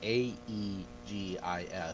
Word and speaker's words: aegis: You know the word A-E-G-I-S is pronounced Aegis?